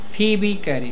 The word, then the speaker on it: Phoebe Cary: फीबी कैरी, फीबी। Pronunciation ध्यान दे लो नाम पे, स्पेलिंग देखो कैसे लिखा है, पढ़ेंगे। फीबी कैरी।